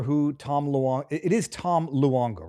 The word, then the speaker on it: Luongo: Some people some people might not remember who Tom Luong is Tom Luongo, right? I'm Tom Longo. Yeah, he usually people just don't pronounce the U.